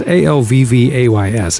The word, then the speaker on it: Alvvays: Is it always or always? It's Alvvays. It looks like always, but I'm wondering if you have to say it like German.